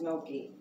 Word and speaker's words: gnocchi: Put some kale in it, gnocchi, and gnocchi, That's that, it looks like it's spelled ganache, but it's pronounced gnocchi. I was calling it ganache.